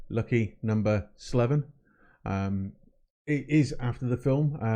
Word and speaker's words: LuckyNoS7evin: Andy Morrell lucky number Slevin and yes it's pronounced lucky number Slevin it is after the film from back in